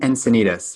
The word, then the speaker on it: Encinitas: in San Diego and I'm gonna say that name wrong can you say for me and sin HS and Encinitas yeah so right I will make a little